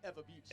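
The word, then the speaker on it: Ewa Beach: How's it pronounced? Eva Beach.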